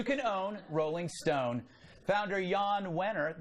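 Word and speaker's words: Jann Wenner: own rolling stone founder Yann winner the J is silent like his readers controlling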